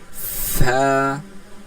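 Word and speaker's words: ف: আইন ফা ফা ফাটার উচ্চারণটা দেখি। কি করতে হয়? উপরের দাঁতকে নিচের ঠোটের সাথে লাগিয়ে উচ্চারণ করতে হয়। মাঝে হালকা ফাঁকা থাকে।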